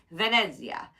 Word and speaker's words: Venezia: the kind of Venezia I've been saying it wrong and I'm trying to retrain my brain it's Venezia and it's mostly Z with a tiny little bit of tea in there so I'm working on it and it's an uh